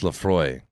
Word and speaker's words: Laphroaig: to pronounce it it does yeah this is pronounced laphroaig and it did come with the with the